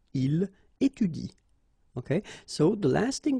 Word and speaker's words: il étudie: So after another vowel, like here, for instance, you don't pronounce this e, okay?